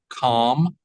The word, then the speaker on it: calm: and Carry On Keep Calm and Carry On make sure the L and the M are clear in calm calm Calm there's no l right it's silent in calm no we